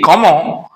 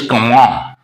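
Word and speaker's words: Comment: name k now see Comm the spelling of this word is c m e n t though the pronunciation is Comm so in the same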